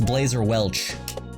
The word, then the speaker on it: Blazer Welch: last name, so it's Blazer Welch. So Laserbelch just rhymes with my last name.